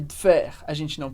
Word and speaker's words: faire: E a mesma coisa acontece com o E do final de faire, a gente pronuncia o R, mas não o E.